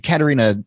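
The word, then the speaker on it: Catharina: I mean, Stephen, it's the Katerina sours that you were talking about, and right? Am I pronouncing that correctly?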